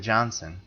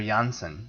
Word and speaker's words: Janssen: Speaking of Bond girl names, one thing we failed to mention, I can't believe, in GoldenEye, Famke Janssen, or Janssen, as it's pronounced.